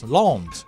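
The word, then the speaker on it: L'Anse: the listener Prov French it is French and The Listener provided a pronounce I said well that can't be right and I did the research L Lawns yeah Lawns Michigan Jose California art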